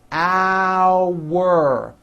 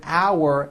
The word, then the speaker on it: our: Our. Think of the word our as having two syllables.